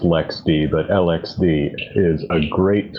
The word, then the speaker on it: LXD: the rest of linux i know it's actually pronounced lex d but lxd is a